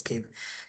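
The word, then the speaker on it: Keyv: It's pronounced as cave.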